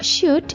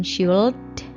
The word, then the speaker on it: should: biasanya membacanya ya Mas kalau shoot itu l-nya sailand ya Jadi bukan should nah tapi shoot shoot oke l-nya tidak dibaca Oh ya seperti